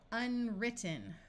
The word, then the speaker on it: unwritten: can add prefixes and as long as the root starts with w r the W will be silent so Unwritten right here we have